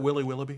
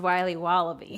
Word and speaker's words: Wiley Wallaby: Can I have a piece of that Willy Willoughby? Wally Wibbly. Wiley's Wallabies. Wallaby Wallies? Wilby Wobbaby? It's pronounced Wiley Wallaby.